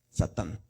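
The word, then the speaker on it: שָׂטָן: Entonces dice, aquí vamos a leer de arriba hacia abajo. Sa. Luego tan Satán.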